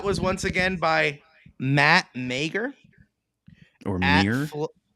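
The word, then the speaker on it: Meagher: by Matt Meer or it's m e a g h e r yeah Mir no way there's too many letters just so you know there's there's people by us yeah same exact last name pronounce May Mir Mir Mir they were on crack when they decided to pronounce that one 100% yeah right so it's Meer they're like no so meager no try again Mir Bingo that doesn't make any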